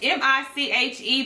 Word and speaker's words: Miche: It's M-I-C-H-E, but it's pronounced as Miche.